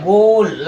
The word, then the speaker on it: goal: जैसे गोट पढ़ा आपने, अब यहाँ पर ए यहाँ साइलेंट हो गया, GOAL क्या होता है? गोल, लक्ष्य, ठीक है, ऐसे।